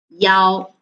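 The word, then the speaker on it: 幺: them about those numbers then we will change the number one pronunciation into yao so there will be no difference and there will be no misunderstanding anymore okay so oh i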